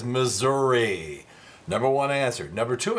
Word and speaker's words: Missouri: TV and the commercials she keeps referring to the state as Missour so we said does this bug you and number one answer at 59% the only acceptable pronunciation is Missouri number one answer number